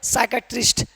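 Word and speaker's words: psychiatrist: अगला रूल क्या कह रहा है? कि एन एस टी से पहले पी हो तो पी हमेशा क्या रहता है? साइलेंट इसको पढ़ेंगे सूडो क्योंकि यहां पर एस है और एस से पहले पी है तो पी क्या हो जाएगा साइलेंट हो जाएगा क्योंकि यहां पर एस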